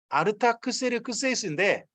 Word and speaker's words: 아르타크세르크세이스: 이거 원래 말은 아르타크세르크세이스입니다. 아르타크세르크세이스인데 그걸 우리나라식으로 표현하다 보니까 뭐 중국어로 왔다가 다시 우리나라 오다 보니까 너무 좀 짧게 읽었어요. 아르타크세르크세이스.